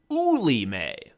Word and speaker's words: Wilmette: So everybody knows that it's also Wilmette. Anyway. So she says, our teacher, who we all hate, she's like, actually, the correct pronunciation of the French name from which Wilmette derives the town's name is Ouilime.